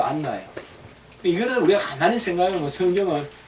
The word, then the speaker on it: 안나: 한나와 같은 말이에요 여러분들 한나가 헬라 말로 바뀌어서 안나가 된 거예 나예요 나인데 헬라식 발음으로 알렉산드리아 헬라 있잖아요 알렉산더 헬라 발음으로 안나요 이거 우리 가만히 생각해보면